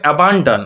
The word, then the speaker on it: abandon: দেখো এটা উচ্চারণ কি হবে, অ্যাবান্ডান, অ্যাবান্ডান। ওকে, এরকম করে উচ্চারণ করে, অ্যাবান্ডান মানে ভেঙে ভেঙে, অ্যাবান ডান, তাহলে এরকম করে লিখো